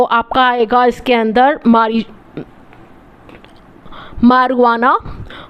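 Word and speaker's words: marijuana: आपका इसके अंदर हमारी मरवाना मारिजुआना मतलब इसको लिखते ऐसे हैं मारिजुआना ठीक है स्पेलिंग के हिसाब से तो हमारी जो आना है लेकिन उसको मरवाना बोलते हैं ठीक एग्जांपल से आपके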